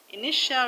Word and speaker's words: initial: Initial, residential, influential, territorial all have their stress on the second syllable from the end. In the word initial, the stress is on ni, ni. Initial.